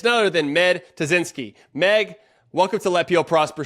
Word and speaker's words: Tuszynski: to say her name but is it tazinski is that how you say it tazinsky you name all right good good good perfect um all right well